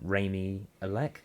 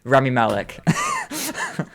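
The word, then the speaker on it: Rami Malek: stuff like you've got um what's his name raymie elec is that his name i think that i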